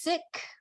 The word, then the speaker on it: Sikh: but I've also heard seek and I want to pronounce it correctly uh so in Punjabi it's sick with an aspirated H but we um the faith the community has been called seek for many years as